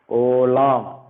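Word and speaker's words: עולם: Olam. Okay, olam. This is a silent letter, so you don't have to give any sound to that.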